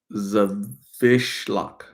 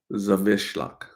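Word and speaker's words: Zawiślak: It's a Polish name. It's pronounced Zawishlak. Zawishlak. Nice. Like a padlock.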